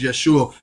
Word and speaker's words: Yeshua: as you call jesus his real name is yeshua because it's it's no j in the hebrew language they they put that they added that to the alphabet so you pronouncing his name the wrong way is yes sure like